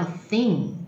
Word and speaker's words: thing: 第二个叫 thing， T-H-I-N-G， T-H 念成舌头伸出